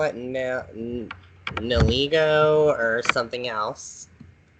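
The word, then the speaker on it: Nihilego: Me personally, I pronounce it Neolego. Or if you really love Legos, Nilego. And another way I've heard it is Nihilic. Gesundheit. Sorry, what was that what you're saying? I've also heard Nihiligo as well.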